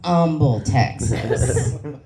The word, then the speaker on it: Humble: So it's pronounced Humble, Texas.